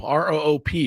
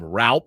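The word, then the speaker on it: Roupp: That's actually Roop. R-O-O-P is the way they pronounce it on Baseball Reference. So been calling him Raup because it looks like that.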